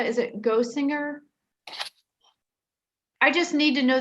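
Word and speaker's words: Gosiger: and it's different on the agenda could you spell it for me it's gazager g-o-s-i-g-e-r and how do you spell it's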